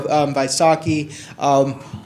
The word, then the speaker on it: Vaisakhi: Can you remind me how to pronounce it? Yeah, the Sikh Temple, of course, Vaisakhi. There we go, Vaisakhi.